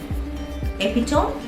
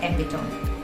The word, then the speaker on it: epitome: word e p i t o m e epitome no it's not epitome it's epitome epitome okay remember the pronunciation of these words and from now onwards